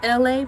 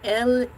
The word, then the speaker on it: ELAY: All right, on that note, my cool peeps, my name is LA, pronounced like LA, like the city.